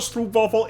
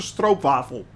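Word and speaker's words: stroopwafel: not as troop awful I'm sorry it's not a screw waffle it's it's a stroke waffle that's how you actually pronounce it stroke bottle or molasses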